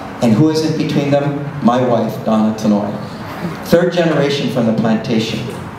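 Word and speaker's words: Tanoue: And those senators didn't know how to say her name. They called her Tankwe, Tanoi, Tinoi. But you know, after 4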